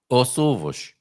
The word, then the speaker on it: ovos: But if you want to say the eggs, then how do you say it, Carl? Os ovos. You say os, right? Os. Yeah. But then you have ovos that starts with a vowel. So the S becomes between two vowels.